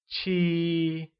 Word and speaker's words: 七: 7 becomes 七 and is said with a high level tone. Let's try and say 七.